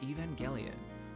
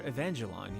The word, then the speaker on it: Evangelion: people who did Neon Genesis Evangelion, or Evangelon, your preferred pronunciation here.